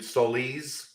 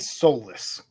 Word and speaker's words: Solis: Brandon Solis. When I've heard it, I know somebody corrected me today. If it's phonetically correct to his heritage, it's Solis. Not I've Salas.